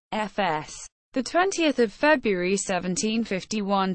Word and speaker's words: Voß: Johan Hinrich Vos German Johan Hinrich Vos pronounced FS the 20th of February 1751 to 29 March